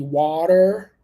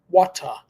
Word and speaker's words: water: going to be so you can say it in American English which is going to be water or in British English which is water water depends on what